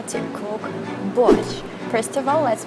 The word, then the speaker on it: Borsch: to reveal a secret of how to cook bush first of all let's pronounce it correctly it's not Porsche or something like that its Bush and so